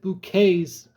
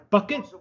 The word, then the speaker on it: Bucket: if he botched he bouquet's pronunciation. I would have ripped Eddie a new one if he botched it. It's like scene bucket and high snuff says it's bouquet.